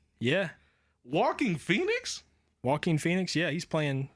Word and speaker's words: Joaquin Phoenix: But I really thought you said this man's name was Walking Phoenix, like actually walking. And I'm like, I'm about 92% sure it's Joaquin Phoenix.